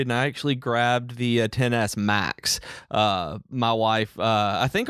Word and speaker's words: XS: the max that's the 10s I never know which ones the correct way to say it but anyway I think it's actually 10 I think it's it's